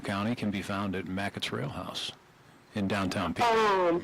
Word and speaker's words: Mackett's: And the best burger in all of Tazewell County can be found at Mackett's Rail House in downtown Pekin. Yes, you're McQuetz, right. Yeah. it's how McQuetz. it's pronounced, and it is wonderful food.